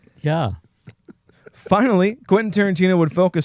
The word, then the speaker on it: ja: Which by the way in German, yes, is spelled J A but you say yah.